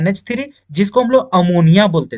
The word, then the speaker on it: ammine: में दिख गया NH3, तो NH3 को आप अमोनिया ना बोल करके आप क्या बोलेंगे? वहां पे अमीन बोलेंगे। क्या बोलेंगे? अमीन।